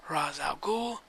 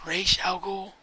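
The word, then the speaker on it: Ra's al Ghul: from Batman Begins but I believe I'm almost 98.9 or excuse me 99.9% sure that it's R Alo because that's the way it was always pronounced in the Animated Series but however you read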